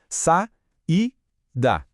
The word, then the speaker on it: saída: Percebe como, ao separar as sílabas, o A e o I se separam? Fica sa-i-da. Elas estavam juntas na escrita, mas se tornam independentes na pronúncia, cada uma na sua sílaba.